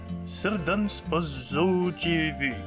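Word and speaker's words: Srđan Spasojević: Et du coup, mea culpa, Serdan Spazovic, comment ça se prononce ce truc? Ouais, c'est ça, c'est Serdan Spazovic.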